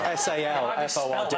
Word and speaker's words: Salford: Well, it's spelled S-A-L-F-O-R-D. That way, but it's said. Did you say salt? Salford. No, salt. Salt. There you go. OK, Jason has a media and performance degree from the University of Salford, and yet, despite that,